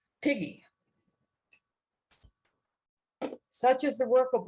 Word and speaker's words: PG: This precise notation indicates that the pronunciation of these initials would be with a hard G. So the word would sound as P-G or piggy.